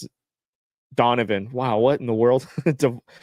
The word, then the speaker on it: Donovan: Devin Mitchell. Devin? No, that's not how you pronounce it. Donovan.